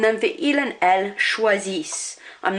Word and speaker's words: choisissent: And then for il and elle, choisissent. I'm not pronouncing that ENT. It has to be there, but I'm not pronouncing it.